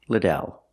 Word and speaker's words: Liddell: you pronounce your last name I answer it's pronounced Liddell let's practice how do you pronounce your last